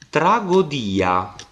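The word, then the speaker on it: τραγῳδία: Omega a i sottoscritto tragodia vedete Cioè praticamente lo yota è stato traslitterato nella E questo perché quando la parola tragodia passò in latino La si leggeva ancora tragia cioè yota si faceva sentire Quindi in un'epoca in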